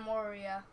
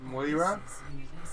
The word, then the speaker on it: Moira: I added Junkrat and Moria. Can't pronounce it. Moira?